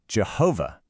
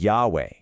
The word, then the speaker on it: Yahweh: The common pronunciation Jehovah is actually incorrect.